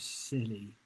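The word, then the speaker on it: Scilly: b-r-y-h-e-r found in the isles of silly i almost said cicely again and that was question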